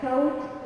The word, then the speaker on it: thought: Silent GH, the GH is not pronounced before a T at the end of many words like thought, light, might, right, and fight.